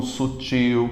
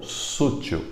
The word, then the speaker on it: sutil: Sutil e não sútil.